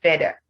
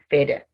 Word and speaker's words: feather: in feather not feather for many people because they don't have the in their local language i mean their mother tongue when they pronounce words they don't have that sound they tend to replace that sound with d so instead of saying feather they would say feder instead of saying they they would say they and that is saying the word the wrong way so we are contrasting